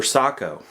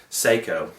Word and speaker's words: Sako: s that stands for Sako S A KO a lot of Americans incorrectly pronounce it Seiko Sako is still in